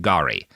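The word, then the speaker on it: K'gari: it's pronounced Guri or Guri, like Gurrie. But I pulled up a video of like people who come from like the tribes that are indigenous to the island saying it, and they say it more like Gari. So that's how I'm going to try to say it, because I'm pretty sure they're righter than Wikipedia.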